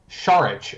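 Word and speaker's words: Šarić: Saric, apparently, is how you pronounce it.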